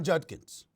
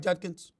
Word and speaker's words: Judkins: Quinshon Judkins. Did I pronounce his name right, Judkins?